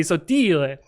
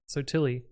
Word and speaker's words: sottile: So in Italian it'd be sottile. But we have like a bullshit American pronunciation that's sottile.